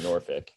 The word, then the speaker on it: Norfolk: Like, what is the correct pronunciation of Norfolk or Norfolk? As far as I know, it's Norfolk, uh, similar to Suffolk, but I've heard a million different pronunciations.